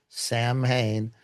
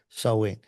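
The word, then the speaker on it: Samhain: They they worship the dread lord Lord of Death Sam Hayne, which is why the the uh festival is called or worship Sam Hayne Halloween.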